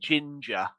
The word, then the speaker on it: GINGR: Think about how you pronounce it. Right? Have you thought about how you pronounce it? Good. I pronounce it ginger.